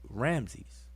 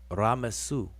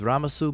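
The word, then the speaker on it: Ramessu: ra messu ramses and so you have a spell down here raw plus mess plus su is ramasu ramses all right and every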